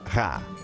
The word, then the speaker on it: Ra: Champollion sabia que em copta o nome do sol em egípcio antigo se pronunciava Ra.